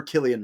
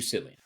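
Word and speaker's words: Cillian: It is Killian. Okay. Now, you will hear so many references to Sillian. Now, the only reason Killian is correct is because I've heard him say his name.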